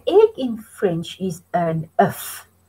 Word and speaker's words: œuf: and maybe eggs, des œufs. Now, an egg in French is un œuf. You say the F when it's in the singular.